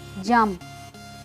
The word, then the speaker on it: jump: कैसे प्रोनाउंस करना है, जंप, जंप, क्योंकि जो पी है इसमें लास्ट वाला वो साइलेंट है, तो क्या बनेगा, जंप।